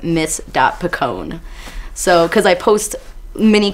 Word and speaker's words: Picon: can also follow me on Instagram m-i-s-b-i-c-o-n that's pronounced Miss DOT Picone so because I post mini covers on Instagram